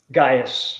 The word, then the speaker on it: Gaius: Gaius. Gaius.